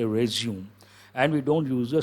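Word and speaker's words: résumé: resume a candidate's resume but actual word arrays you me French word then you have to use two strokes and you have to pronounce what what are you supposed to say arrays you me but American English resume we don't say resume me we say resume and we don't use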